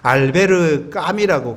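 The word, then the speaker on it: Albert Camus: 이 알버트 까미는 프랑스 사람이기 때문에 알베르 까미라고 그렇게 읽습니다.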